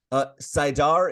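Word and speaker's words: saidar: Sidar is correct. Just Okay.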